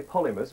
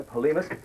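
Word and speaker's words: Polhemus: I was going to say Polymus, but no, Polemus.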